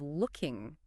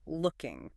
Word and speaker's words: looking: And the pronunciation of looking, it's a short sound, right? Not looking. That's right. It's the same sound as in book or cook. A short knee looking.